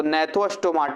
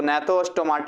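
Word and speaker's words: Gnathostomata: जाएंगे यहां पर तो nethostomata हो गया जी साइलेंट है अब गणित हो भी कई लोग बोलते हैं गिनेट हो या ना तो जो भी हो गया तो nathostomata हो गया यहां पर इन दोनों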